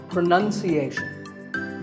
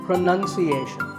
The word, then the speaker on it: pronunciation: you say it well we say pronounce pronounced and pronouncing but pronunciation there's no noun in this world it's pronunciation word number two is